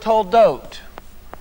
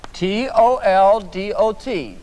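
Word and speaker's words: תולדות: Now this dot right here makes the O sound. This letter, we call this letter a vav. This letter is going to be a silent letter when you have the dot above it. And so in this case, in this word toldot, we have two of these letters, the vav.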